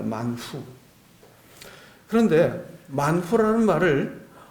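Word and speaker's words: מן הוא: 여러분 만나라는 말이 우리가 발음할 때 영어로는 뭐 만나 이렇게 하고 우리나라 말로 만나 하지만 원래 히브리 말로는 만후입니다. 만후.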